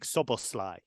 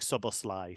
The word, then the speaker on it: Szoboszlai: But he has said in the Bundesliga, Dominik Szoboszlai. So we'll see if that is maintained or not. Obviously, we know the Premier League now do their pronunciation videos as well. But I think if you say Szoboszlai, you're not too far wrong.